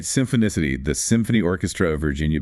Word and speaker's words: Symphonicity: Symphicity and remember that's pronounced Symphonicity, right? Symphonicity.